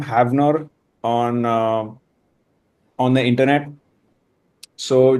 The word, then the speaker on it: Havnur: So just like a mild correction, it's like Havnur, pronounced Okay. as Havnur, Got it.